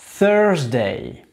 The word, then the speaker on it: Thursday: Thursday. Le TH, on met la langue sur le bout des dents du haut.